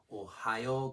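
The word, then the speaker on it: おはよう: Notice that the vowel at the end is marked with a long vowel. It's one of the 2 main ways used to indicate long vowels in Japanese. The other way is just to write the vowel twice. So this just means that you hold it out for 2 beats instead of 1.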